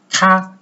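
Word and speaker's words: 他: In case of Chinese, we call it ta. Ta. Ta means he. Ta means he. The first tone, ta.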